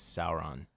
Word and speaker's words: Sauron: Actually, I believe the correct pronunciation is Sauron.